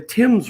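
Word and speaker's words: Thames: just give you example like the Tim's River that runs through London right it's spelled T h a m- s you know and hey in English we all have the exceptions right it doesn't matter what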